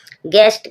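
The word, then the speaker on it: guest: गेस्ट। गेस्ट means अतिथि जी यू जी के बाद यू आया। यहां यू साइलेंट है।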